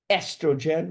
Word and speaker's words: estrogen: Estrogen, remember the O is silent, and progesterone.